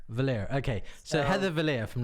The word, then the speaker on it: Vallier: it would be more correct, particularly if you were trying to pronounce it the French way that it was intended. At some point, it got Americanized and it became Vallier.